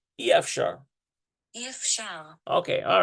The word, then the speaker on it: אי אפשר: אי אפשר. אי אפשר. It's pronounced E.